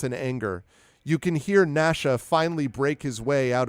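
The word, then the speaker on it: Gnasha: they look quite juicy Nasha chews through and it is spelled exactly like that as in nashing of teeth g n a ha Nash chews through all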